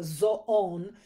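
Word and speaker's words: ζῷον: And it looks like Zoom in English, but it kind of has a accent on the last half. So zoon.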